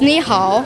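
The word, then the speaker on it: 你好: This means ni hao. How to say it is ni and hao, which is English is hello.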